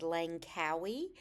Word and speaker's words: Langkawi: We are flying today to, I believe it's pronounced Langkawi, which is an island in Malaysia.